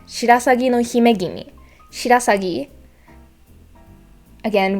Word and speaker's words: Shirasagi: Shirasagi, again with the rolling R, Shirasagi, not Shirasagi. And then it's the intonations again. It's gonna keep being like the thing. English speakers really, really want to focus on that third syllable, but it's not.